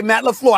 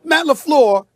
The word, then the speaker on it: LaFleur: Okay, Matt LaFleur. I mentioned that name, right? Did I say correctly, Sometimes Molly? you think you're from Petty. All right. No, Yes. listen. Now listen. Matt LaFleur is 22-6 as the head coach.